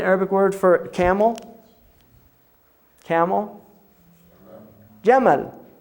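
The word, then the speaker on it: جمل: Jamal, right? Camel is from Jamal, because the Egyptians say Gamal. They pronounce the jim Gamal.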